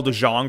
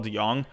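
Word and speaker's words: DeJong: if i like like i was saying paul de jong for a while but it's paul deyoung at least that's what i think it is that i was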